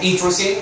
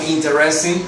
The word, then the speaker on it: interesting: Ojo en la pronunciación, yo no pronuncio esta E, digo interesting, jamás algo como interesting, no, interesting book.